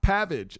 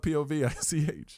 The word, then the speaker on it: Povich: it sounds not at all pv is not pavage it's pavage well first of I don't spell it POV I spell it pav pav yes that's p that's that's pavage Okay.